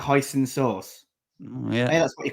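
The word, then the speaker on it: Huijsen: Dean Hudson, the J is silent, so it's pronounced hoisonen. Like hoisonen sauce.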